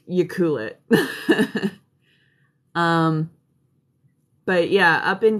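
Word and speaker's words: Ucluelet: cool it if you were wondering how to pronounce the one that's like right beside it it's you cool it um but yeah up in tofino my buddy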